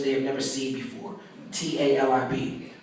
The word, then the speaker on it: Talib: they've never seen before tal I be pronounced to leave by my parents and Todd led by most Muslims I've had high school